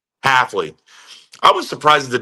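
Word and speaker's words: Hafley: pretty surprised at the demand of and I mispronounced the guy's name. Jeff uh H healthfully Halfley. Halfley.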